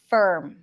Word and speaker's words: firm: the r er er there is no e No E no ah firm firm term burn firm turn burn basically it's like I'm practicing the pronunciation of the r or for firm firm in in British English you would Transit you would pronounce a neutral vowels closer to a schwa sound firm for uh uh